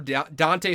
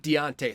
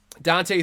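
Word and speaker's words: Dont'e: it Dante th thoron there's an apostrophy in it but it's not Deontay thoron it's just Dante thoron why they spell it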